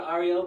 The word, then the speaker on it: Ario: This mantra must be chanted every morning, dividing it into three syllables. Ah, ri, o, prolonging the sound of each letter.